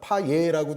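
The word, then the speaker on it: Payet: 거기 보면은 이제 디미트리 파예 선수랑 파 예라고 많이 하는데 맞는 발음은 아마 파예 겁니다 그런데 그 선수랑 또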